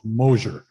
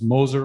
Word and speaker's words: Moser: It was always Mosier. And, you know, I corrected him multiple times saying it was Moser, like a Z, it's Moser, but he always butchered my last name, but that's all he ever called me.